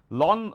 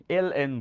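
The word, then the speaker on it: ln: লন, লনের অঙ্ক অনেকে বলে না, ইভেন আমি গাইড বইগুলোতেও দেখছি 19 লনের অঙ্ক, লন বইলে কোনো অপারেটর নাই, এল এন বলে এটাকে। আর লন এল এন রে একবার উচ্চারণ করে মানুষজন বলে, বাট এল এন দ্বারা বোঝায় ই ভিত্তিক লগ।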